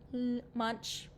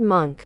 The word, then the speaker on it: Munch: Munch. He's Munch. No, I don't think that's how you say it. Edvard Monk.